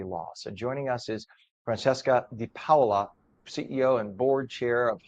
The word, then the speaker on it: Francesca DiPaola: Good morning, and I'm hoping, is it Francesca DiPaola? Am I pronouncing it properly in Italiano? Absolutely, that's correct.